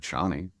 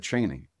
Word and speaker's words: Chani: he said, “You know, Brian and I, whenever we're talking about her, we've always said 'Chani.'” It seems more Arabic, frankly, but Frank said "Chaney." So I always, I remember I was initially talking to Brian about it, and I said, “I feel like I really want to defer to Frank.” Anytime, if there's a word that he said aloud, I'm gonna do it this way, and it's okay if